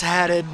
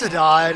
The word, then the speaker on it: Haddad: He's like, actually, it's Haddad, but it's Hadad. It's whatever, But he's lucky.